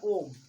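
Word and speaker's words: ॐ: उसको उच्चारण करिएगा कभी, तो आप ऐसे बोलेंगे ओम। देखिए ओम शब्द का जो उच्चारण है आपने लंबे समय तक किया है ना, याद रखिएगा।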